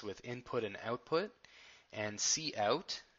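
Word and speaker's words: cout: input and output and see out don't pronounce it count hits see out that stands for console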